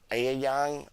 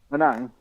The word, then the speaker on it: Anang: Yes, we do, and we have the other boy, but I can't pronounce his name, Ayang or something like that. Anang. Yes, thank you.